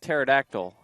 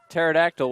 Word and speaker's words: pterodactyl: as the the thing the P is silent like pterodactyl the P is silent well will I'm not